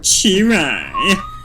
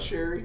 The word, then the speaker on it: Cherry: And it is Cherry, by the way, with the CH. It's not Sherry. No, it's not Sherry.